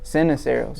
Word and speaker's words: Ceniceros: Sinceros. Sinceros. Seros. Yeah. Sinuseros or Senos? Seneros.